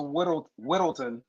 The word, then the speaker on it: Whittleton: It's pronounced Whittleton.